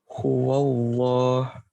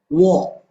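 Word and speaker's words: هُوَ اللّٰه: Huwallah. Nah, ya, apa tuh Pak? Anda kasih catatannya. Di sini wawunya berharokat fathah. Jangan sampai condong suaranya ke o. Huwallah. Wo.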